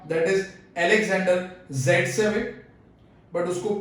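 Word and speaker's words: Zaitsev: तो यहाँ पे इस चैप्टर के अकॉर्डिंग हम बात करें तो यहाँ पे एक साइंटिस्ट है ना, साइंटिस्ट जिसको हम अलेक्जेंडर ज़ेटसेव था बट प्रोनाउंस करेंगे सेटजेफ।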